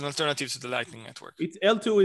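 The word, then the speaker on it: eltoo: to the lightning network l2 is a kind of a pun on layer two right it's called e it's spelled e-l-t-o-o but it's a layer two okay um any more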